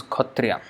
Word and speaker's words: Kshatriya: write as cut Riya the spelling is Kshatriya but the way they pronounce is code tria so this is some